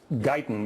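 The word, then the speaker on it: Gaytan: page and uh it's it's it's the it's pronounced gon but it's spelled g a y t a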